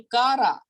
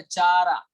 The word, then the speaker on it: Chara: Then second one, branched, branched algae for example कारा। अब ये कारा है, कारा, CHARA, इट इज अ कारा, इट्स नॉट अ चारा, इट्स नॉट अ शारा, इट्स अ कारा, इसका प्रोनाउंसिएशन कारा।